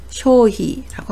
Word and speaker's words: 消費: 한국어는 비이지만 일본어는 히라고 읽는 점 주의하시기 바랍니다. 비용을 히요라고 하고요. 경비를 게이히라고 합니다. 소비를 쇼히라고 합니다.